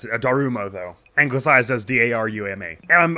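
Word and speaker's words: Daruma: here is, I'm not sure exactly how to pronounce it, a Darumo, though.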